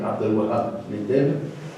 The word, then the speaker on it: Abdul Wahab al-Mu'addib: in medieval Sufi thought, Abdul Wahab al-Mu'addib, to pronounce it in the classical way, Abdul Wahab al-Mu'addib, who also, with all